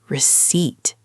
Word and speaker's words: receipt: No, no, receipt. You don't say the P.